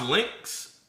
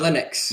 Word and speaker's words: Linux: So, is it is it is it pronounced Lynx? Uh Linux. Linux. So, Linux. Yeah.